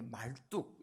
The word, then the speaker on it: 마르둑: 요 마르둑, 이게 말뚝 이렇게 발음하는데요.